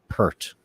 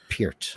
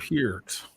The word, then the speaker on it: Peart: Yeah, it's like people who say Neil Peart, and it's Peart. Peart.